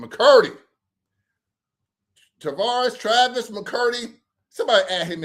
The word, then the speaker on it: Tavares: That's how you say his name, Tavares.